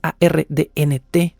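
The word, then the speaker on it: Arndt: el episodio anterior linda ARN en caso de que tengan dudas de cómo estoy pronunciando el apellido es a rnt ARN con una t final ARN quien eh dijo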